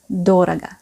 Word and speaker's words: дорого: pour mémoriser le mot d'oraga. C'est un adverbe. Doraga, vous avez remarqué l'accent tonique, il est sur O, sur le premier O. Doraga, c'est pour ça qu'on entend bien O.